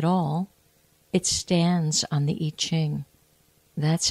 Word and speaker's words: I Ching: heard of it, and some of you have heard it pronounced yi, like Y-I or Y-E-E, Ching, C-H-I-G, and it has to do with changes. So the Yi Ching or the I Ching is what is called the Book of Changes.